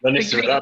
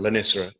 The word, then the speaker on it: Lonicera: My pronunciation, I do apologise. Lonicera natindia? Lonicera, that'd be a honeysuckle, Lonicera.